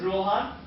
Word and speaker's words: Rohan: So in my case I would start by saying my name is Rohan just like the kingdom in the Lord of the Rings movie.